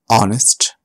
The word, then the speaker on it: honest: And sometimes it is not pronounced at the start of a word like honest and hour.